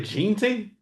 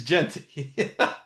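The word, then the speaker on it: Jeanty: Gent. How do you say it? Arizona GT. It's Genty.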